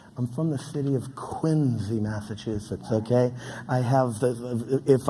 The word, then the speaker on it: Quincy: Now, Quincy, Massachusetts is the home of two presidents, John Adams and John Quincy Adams, not pronounced Quincy, which is an interesting little tidbit.